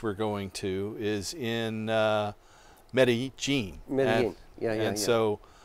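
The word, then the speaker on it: Medellín: you know i we're both going back to medellin or meta-gene the way they pronounce it if you know fear in an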